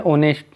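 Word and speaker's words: honest: उसके आगे हम पढ़ते हैं ओनेस्ट, जिसमें एच साइलेंट है, इसका स्पेलिंग एच से स्टार्ट होता है, होनेस्ट।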